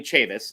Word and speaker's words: Chavous: a hold of you so you see my name it's spelled kind of funny right there okay you take that name Chavis c-h-a-v-o-u-s at and then the